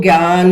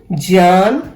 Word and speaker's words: ज्ञान: हम आम भाषा में इसको ज्ञान, यज्ञ बोलते हैं, लेकिन इसका असली उच्चारण ज्ञान, यज्ञ है।